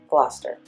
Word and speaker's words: Gloucester: Turning right here on to Gloucester, and Gloucester is spelled 𝒔𝒐𝒕𝒔, but it is pronounced Gloucester.